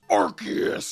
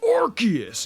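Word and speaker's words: Arceus: a Pokemon everyone's like it's pronounced archus and I'm like bro bro like calm down like it's not that serious like it's orchus and I'm like Rayquaza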